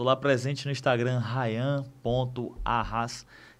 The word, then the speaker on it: Arraz: presente no Instagram Raian pahas que é o meu sobrenome né vou ficar meu Deus isso ran do jeito que se pronuncia tá gente r a n.